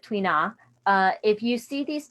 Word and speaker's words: tuina: you next slide please okay tuina yeah twain yeah let's go to the next slide um so they pronounce it twina uh if you see